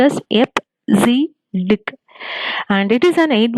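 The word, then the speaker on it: EBCDIC: b c d i c hd it is pronounced as f z dick and it is an eight bit alpha numeric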